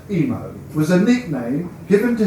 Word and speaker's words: Imo: IMO, pronounced Emo, was a nickname given to him from the play on the initials of his full name, Iain Owen Moore.